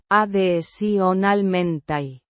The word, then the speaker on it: adicionalmente: Pronounced ah-thee-see-oh-nahl-men-tay. with the stress on the second syllable.